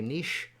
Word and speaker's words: niche: I can't say niche because we like niche better because niche rhymes with rich.